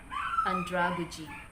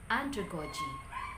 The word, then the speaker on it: andragogy: the correct pronunciation is andragogy andragogy the same is true with pedagogy pedagogy before i pronounce this as pedagogy but the correct pronunciation is pedagogy pedagogy the primary stress lies in the first component pedagogy how many syllables